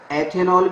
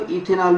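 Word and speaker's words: ethanol: ए एन ओ एल इसको एथेनॉल भी लिखते हैं एथेनॉल या इसको इथेनॉल भी बोल देते हैं इथेनॉल उच्चारण का फर्क है एथेनॉल या इथेनॉल इसको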